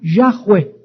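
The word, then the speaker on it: Yahweh: tiene vocales y H W H se pronuncia yahwe Y entonces Dios le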